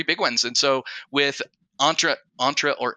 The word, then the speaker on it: Entra: are the three big ones and so with entra entra or intra how do you say it Rob intra ID